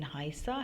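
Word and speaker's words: heiße: beta sign here uh the beta sign here in haa has the sound of a double s so ish haa Shivani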